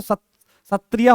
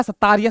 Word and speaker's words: सत्रिया: ठीक है, और असम की बात करें तो सत्रिया हो गया आपका, सतारिया, सत्रिया, आप जैसे इसको प्रोनाउंस करना चाहो।